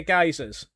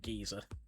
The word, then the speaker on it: geysers: Oh, they are they're geysers. Nanian. I just have a bad habit of pronouncing them geezer. How you doing, Blackclad? They are geysers. I know they're geysers.